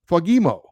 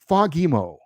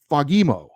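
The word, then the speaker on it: Fagemo: back that it's pronounced fogimo um with the emphasis on the second syllable fogimo I floated back and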